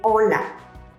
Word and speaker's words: hola: someone in spanish say hola note that the h is silent an informal common